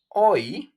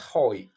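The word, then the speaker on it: hoy: the sentence like oh is oi oi not hoi oi without any sound the h o s today is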